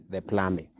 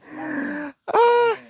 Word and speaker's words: plumbing: We call it plumbing. Sema plumbing. Plumbing. No. Not plumbing. Plumbing. So one of us told us that it's plumbing. The B is silent. You don't pronounce the B.